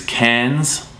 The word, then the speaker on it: Cairns: It's spelt Townsville, but the locals call it Townsville, so they don't pronounce the I in there. Just up a little further is Cairns.